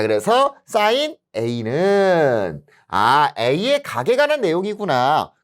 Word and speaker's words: 사인: 그래서 씬이라고 읽으시면 안 됩니다. 원래 여기에 이가 있어요. 이렇게 이가 있어서 사인이라고 읽는 건데 우리가 이는 생략을 해줘서 사인이다 라고 부릅니다. 그래서 여러분들 씬이라고 읽는 분들이 있어. 아닙니다. 사인이에요. 사인.